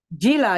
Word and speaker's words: Gila: Here, Did I here in pronounce your name, correctly? Gila, yes, you pronounced it perfectly okay.